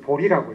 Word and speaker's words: 보리: 제자지만 이제 이 진리라는 뜻으로 읽을 때는 보리라고 읽죠. 보리.